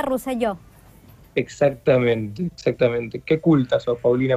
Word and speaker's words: Roselló: Si es catalán, se pronuncia Roselló.